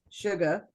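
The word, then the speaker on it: Tsuga: and if I'm correct you don't pronounce the T so it's sugar really and I wanted to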